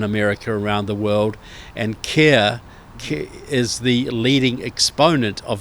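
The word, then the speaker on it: CAIR: and C A I R Cir which is the pronunciation but it's it's also one of those oxymorons because they it's pronounced care they pronounce it care but it's it's also in inversion.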